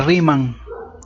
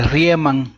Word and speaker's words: Riemann: Este método que vamos a usar se llama suma de Riemann o de Riemann, que así se escribe.